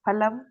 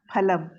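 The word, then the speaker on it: फलम्: Pa only, not fa. No, Fa. Fa is not there in Whole first. Pa. lot Phale. Phale. I did mistake. Phale, fa is pronounced. It is phalam.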